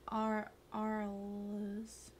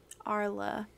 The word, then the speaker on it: Arles: How do you say the town name or the city name? Arles. Because what I was going to speak into existence is I'm going to learn French. Rhymes with Carl. Okay, cool. Arl.